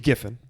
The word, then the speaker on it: Giffen: somewhere ladies and gents I'm Keith Giffen I think yeah I think it's given I'm pronouncing it correctly it's not Jeff and it's not even